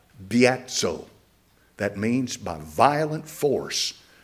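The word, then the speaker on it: βιάζω: The same Greek word, biatso, beta, iota, alpha, zeta, omega, with the accent on the alpha, biatso.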